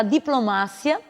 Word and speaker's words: diplomacia: Diplomacia, em espanhol será diplomácia.